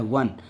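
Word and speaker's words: one: नहीं लगाएंगे इसके पहले, क्योंकि जब इसको हम प्रोनाउंसिएट करते हैं तो वह आता है वन, और वह हिंदी वॉवेल, हिंदी वर्णमाला के अनुसार अगर हम देखें तो ये कॉन्सोनेंट है, व्यंजन है।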